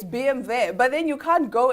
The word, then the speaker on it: BMW: Even, you can't, it's not BMW, it's BMW. oh, Yes, because it's German. you see? It's BMW. But then you can't go in and be like, no, I drive a BMW.